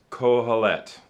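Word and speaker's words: קֹהֶלֶת: word teacher uh is a hebrew word it's pronounced kohalet colette and so you can see it's it's that's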